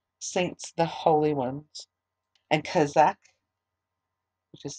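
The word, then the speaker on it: chazak: known as the saints the holy ones and kazakh which is spelled c-h-a-z-a-k it means be strong psalm 32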